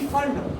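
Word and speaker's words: Pfund: पी फंड, P silent है, फंड series. P फंड नहीं बोलना, पी फंड मत बोलो, फंड सीरीज।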